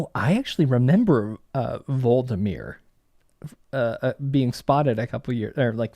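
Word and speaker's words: Hvaldimir: monitoring the whale Marine that's not how you spell that vmir has an age big big old silent h at the front Marine mind Facebook uh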